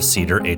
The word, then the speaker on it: CEDR: Did I pronounce it CEDR, right?